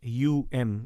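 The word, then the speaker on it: Aum: who may not know om is not om it's a u m it's um so both allah and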